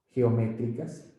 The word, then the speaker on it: geométricas: Entonces, estas propiedades de aquí, estas propiedades geométricas, acento en la E, esa palabra es drújula, estas propiedades geométricas me